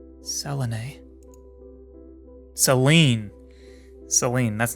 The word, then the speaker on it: Selene: of the window I don't know how to pronounce this so we're going to say Selen because that seems correct Selen Seline Seline that's not the way I would have said